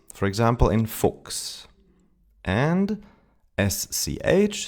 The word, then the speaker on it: Fuchs: The first one is when CH is followed by an S, CHS, then it's pronounced like an X. Dachs. Fuchs. Sechs. Wechseln.